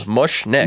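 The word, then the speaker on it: Mushnik: It's literally pronounced how it's spelled. Mushnick.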